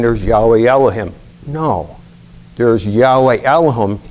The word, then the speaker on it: Yahweh Elohim: No, there's Yahweh Elohim.